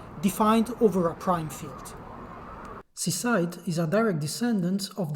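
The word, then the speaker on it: CSIDH: graph to my right seaside yes these things has to be pronounced seaside the family of schemes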